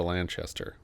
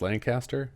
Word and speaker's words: Lanchester: This was the final film of Elsa Lanchester. Or is it pronounced Lancaster? I would say, well, since she's English, it might be Lanchester.